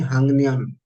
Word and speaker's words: 학년: The pronunciation will be Hangnion. Hang. Okay, like the ang.